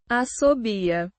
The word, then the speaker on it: assobia: Asobia means whistles pronounced with a clear a sound in the beginning and a stressed b sound.